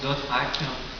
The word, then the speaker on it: .hack: en fait son appellation quand on l'écrit c'est en point HAC donc on la prononce d'autes ha et vous allez il